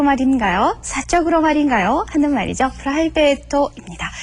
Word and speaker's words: プライベート: 프라이베이토입니다. 철자, 타금도 들어있고 장음도 있습니다. 정확하게 발음도 하셔야 되겠죠?